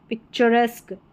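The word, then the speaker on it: picturesque: यहां पर देखिए पिक्चर पिक्चरस्क एस्क करके उच्चारण आ रहा है।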